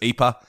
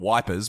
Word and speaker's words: Ypres: um but I typically refer to it as EA um you can refer to it as EP if you like or anything else but and as we know the soldiers called it wipers because they couldn't pronounce it at all regardless